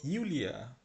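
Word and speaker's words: Julia: Hello নিনা, hello ইউলিয়া, যে উচ্চারণ না, এটা হবে ইউ উচ্চারণ।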